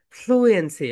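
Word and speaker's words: fluency: ওকে, আমরা অনেকে এটা রং প্রোনাউন্সিয়েশন করি, রাইট প্রোনাউন্সিয়েশন হবে ফ্লুয়েন্সি।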